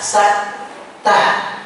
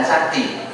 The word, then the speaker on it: saktah: Karena seolah-olah di dalam bacaannya tersebut terdapat kaidah saktah. Bukan sakti. Saktah kekuatan Bapak-bapak. Saktah. Saktah itu adalah diam sesaat tanpa menarik nafas.